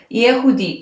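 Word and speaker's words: יהודי: Aqui faz o U, Di, este pontinho com o I, e isto equivale ao nosso Y, ao nosso Yod.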